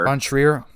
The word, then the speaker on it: von Trier: Von Trier.